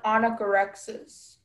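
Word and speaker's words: onychorrhexis: Okay, onychorexis? Am I pronouncing right? Yes. Is there any alternative pronunciations? There's just the one anagorexis.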